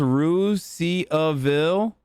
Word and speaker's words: Russiaville: There's a Russiaville in Indiana that's pronounced Ruse-Ville.